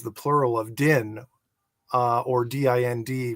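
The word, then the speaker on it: dind: Do in Irish is the singular for what we usually see as the plural of din, or D-I-N-D, which is also pronounced din, which is the first element of the term dinhenicas, which means the lore of sacred and important places.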